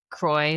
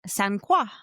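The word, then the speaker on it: Sainte-Croix: And it's funny because we kept saying croy like lacroy. Yeah. It's spelled like st croy. C r o i x. It's qua. It's sanqua. Yeah. Like French qua is like cross.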